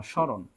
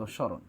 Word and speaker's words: স্মরণ: সয় ম র মধ্যান্য স্মরণ এটা বানান এর কারেক্ট আনসার আমরা বলি এইভাবে তাইলে এবার স রয় ওকার দন্তান নয় হসন্ত স্মরণ বুঝতে পারছেন ম এর কোন উচ্চারণ আসেনি আমি যদি বলি সব